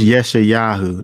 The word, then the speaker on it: Yeshayahu: Because again, Yahshua, pronounce that. That's Yeshayahu. That's Isaiah. Yeshayahu said, He has blinded